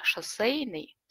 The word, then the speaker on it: шоссейный: На самом деле там же произносится буква «э», «шоссейный», а пишется «е».